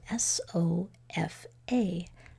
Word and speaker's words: sofa: doesn't make sense so you know something is being schwad and the most common uh letter to get schwa at the end of a word it's going to be a so that word is